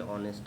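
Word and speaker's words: honest: ऑनेस्ट में हम लोग एच को साइलेंट रखते हैं। इसलिए वोवेल साउंड क्रिएट करता है।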